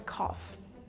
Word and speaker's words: cough: is co not really this one is actually pronounced as cough cough c and how would you pronounce this